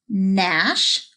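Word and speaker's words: gnash: and you know what I'm gonna tell you Naru and Nash we'll start with a silent G when G and n are together it makes the sound mmm just like Nome that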